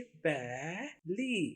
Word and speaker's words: belly: उर्दू में नाम ये ली। देखिए बैली, इंग्लिश में बैली। आपने स्पेलिंग में BELLY याद रखने हैं। ये वाले स्पेलिंग आपको आवाज समझाने के लिए इस्तेमाल किए हैं।